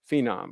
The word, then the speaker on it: phenom: a Phenom or goat Phenom I guess pronounce it like phenomenon right and so and